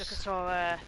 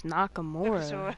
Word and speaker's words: Nakamura: Nakasura the win. What did you just call him? It's Nakamura.